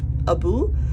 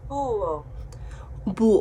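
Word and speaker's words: búho: was learning my animals an owl in Spanish was Abu but I wanted to check before I made this video and this is how you pronounce it oh boo oh no I'm not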